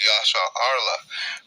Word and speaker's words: Yasharahla: They say they mispronounce it, but it's Yasharahla, which the Yah means he, Shar means prince, Allah means power.